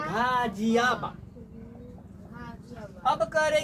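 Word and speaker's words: Ghaziabad: कहीं का घ का उच्चारण हो रहा है, यहाँ तो गाजियाबाद लिखा गया है ना।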